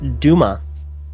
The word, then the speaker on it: Duma: Yep, no, it is, according to the Bionicle Encyclopedia, it is pronounced Duma. And that is how they say it in the movie as well, Turaga Duma.